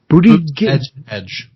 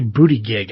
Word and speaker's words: Buttigieg: Buttigieg. Yeah, I keep wanting to say booty gig.